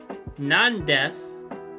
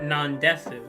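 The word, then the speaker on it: なんです: You have a U at the end of a sentence, you normally don't pronounce it, like nandes, not nandesu, because that would just sound weird.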